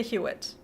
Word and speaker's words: Huitt: I would say Huitt.